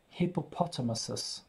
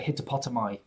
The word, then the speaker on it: hippopotamuses: Hippopotamuses. I really couldn't have told you what the plural of a hippopotamus was. I probably would have said hippopotami. But it's hippopotamuses.